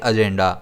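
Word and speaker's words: agenda: हम इसे प्रोनाउंस करेंगे एजेंडा। इसमें स्ट्रेस जो है वो ज़ पर रहेगा।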